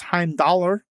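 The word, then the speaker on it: Heimdallr: in Norse mythology uh the Norse is Heim dollar I think is how you pronounce it uh and he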